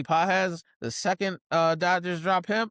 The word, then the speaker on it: Pages: And Andy, even though it's spelled Andy Pages, Andy Pages, the second Dodgers drop him, I can't wait to scoop him up.